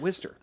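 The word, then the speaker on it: Wooster: like it was like where he worked which we're not going to whatever but I can totally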